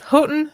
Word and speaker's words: Houghton: get it wrong so it's fine houghton yes houghton mifflin harcourt is looking to sell its trade